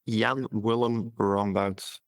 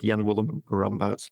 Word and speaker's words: Jan Willem Rombouts: That's Jan Willem Rombouts. I lived in the US for 7 years. And I've heard it pronounced in 17 different ways, but Jan Willem Rombouts is the right way.